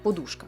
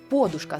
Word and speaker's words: подушка: Сучасні словники фіксують лише один наголос, як і в російській мові: подушка. Але історично українські джерела подають подушка з наголосом на перший склад.